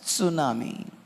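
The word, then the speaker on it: tsunami: Japanese वाला ही देती T start हो T silent सुनामी Japanese word था तो से माने जो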